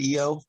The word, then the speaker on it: Io: said it was iowa doesn't carl sagan call it eo we know what moon it is whatever however you say we don't moon it is yes it's the one if you're pronouncing greek as you but in english people normally say io don't get me started